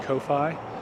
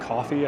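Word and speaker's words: Ko-fi: donating via PayPal and Kofi or coffee I think is pronounced very much appreciated uh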